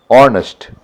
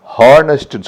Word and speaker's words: honest: அந்த ஹெச்னுடைய உச்சரிப்பு கிடையாது. அதே மாதிரி ஆனஸ்ட், HONEST ஹானஸ்ட்னு சொல்லக்கூடாது, ஆனஸ்ட்னு தான் சொல்லணும்.